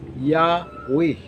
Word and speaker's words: Yahweh: YHWH pronounced nag Yahweh o nag translate ni siya mga kaigsunan og Ginoo o Dios.